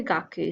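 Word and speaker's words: 学: with the most so for example down here it is pronounced as guck like so cool but God as in part of the school work but here in its true gaku say it is pronounced Kaku also in plain student it's pronounced Kaku so if you're talking about school this symbol means got call gaah if you're talking about the student version of the word it's going to be gaku okay don't think about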